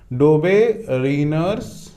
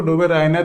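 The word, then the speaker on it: Döbereiner: डोबेरिनर्स, कोई कोई इसको डोबेराइनर भी बोलते हैं, तो वो प्रोनाउंसिएशन अलग अलग होता है।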